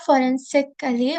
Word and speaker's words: Forensically: So my project it's called forensically or you can also pronounce it as forensic ally.